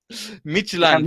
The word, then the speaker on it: Midtjylland: Then I don't know how to pronounce Midtjylland. Midtjylland.